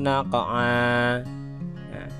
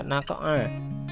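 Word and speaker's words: نقعا: Berikutnya contohnya adalah fa'atharna bihi naqa'a. Nah, karena waqaf dibaca naqa'a, jadi bukan naqa'an.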